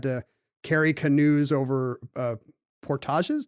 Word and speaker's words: portage: carry canoes over uh portages do we say Portage or Portage in this case I think Portage you can't go wrong with the French pronunciation when you're talking about these when you're talking about